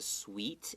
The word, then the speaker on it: suite: Right, and then if it's a suite in a hotel, does that mean 甜甜的? 哦，不是，它是指那个 hotel 里面的套房式的、套房型的这样的房间。 Right, and it's spelled differently. Okay, 对。甜甜是 S-W-E-E-T. This one, 套房 is S-U-I-T-E. Pronounced exactly the same.